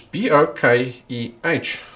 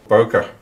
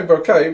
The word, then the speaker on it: bokeh: so it's b-o-k-e in japanese in english it's b-o-k-e-h so there's two ways you can pronounce it in english you can say bokeh or you can say bokeh so i'm not going to say bouquet because then you get confused with uh a